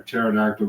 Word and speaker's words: pterodactyl: can't you hear a pterodactyl going to the bathroom what why is that because the p is silent oh wait hold on